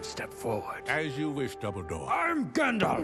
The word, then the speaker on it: Dumbledore: As you wish, Dumbledore. I'm Gandalf. It's pronounced Dumbledore. Dumbledore? No, Dumbledore. Thought you said Dumbledore.